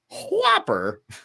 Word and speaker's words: Whopper: going up against the River to see Whopper Plopper, and yeah, you got to pronounce the H. Yeah. Whopper. Horses. Right.